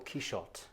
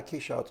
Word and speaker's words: Quichotte: We're here to talk about your latest novel, Quichotte. We should probably clear up, first of all, the pronunciation question. Yeah. Have I pronounced that correctly? Yeah, Quichotte. It's really the normal French pronunciation.